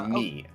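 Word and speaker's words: 見: And that is pronounced mi.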